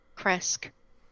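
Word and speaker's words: Krezk: Kresk.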